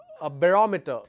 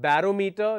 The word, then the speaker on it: barometer: thermometer uh barometer okay it's not barometer never say barometer it's barometer like parameter we always say parameter right it's not parameter it's parameter parameter all right that is how the pronunciation is so that's about the